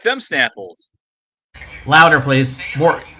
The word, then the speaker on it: Snapple: Oh, I don't say it with an H. How do you say it then? I say, how do you like them Snapples?